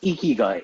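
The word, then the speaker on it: 生きがい: Before we start, I would like to know what is the correct way to pronounce this term spelled as Ikigai. It's Ikigai.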